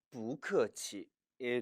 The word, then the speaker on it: 不客气: 원래 성조는 不客气 이지만 이 역시 不客气 라고 발음하면 다소 힘들 뿐더러 오해를 살 수 있기 때문에, 또한 이 뿌는 변칙 성조이기 때문에 사성 앞에서는 이성으로 바뀌는 경향이 있지요. 따라서 不客气가 아니라 不客气 라고 발음함에 유의하시기 바랍니다.